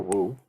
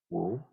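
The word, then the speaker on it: 無: Or Wu, which is the proper Chinese pronunciation. It's not the proper Chinese pronunciation because I can't do the proper Chinese pronunciation, but it's something like Wu, right?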